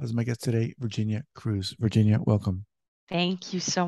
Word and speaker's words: Cruse: are you ready and your last name is pronounced Cruz you got it okay like the ship okay okay you ready